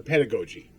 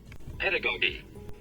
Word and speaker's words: pedagogy: us the two ways first the more Americanized version pedagogi pedagogi or and then there's the more English version or the more arod way pedagogy or pedagogi or pedagogi um pedagogi you'll hear it pronounced a bunch of different ways but what it simply